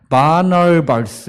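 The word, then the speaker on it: Barnabas: 약간 좀 영어 이름으로는, 우리는 바나바지만 영어 이름으로는 바나발스 이렇게 좀 어렵게 발음해요.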